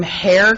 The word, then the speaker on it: Hoerr: Our first one is from Hair Construction. I believe I'm pronouncing it right, but it's spelled Hoerr.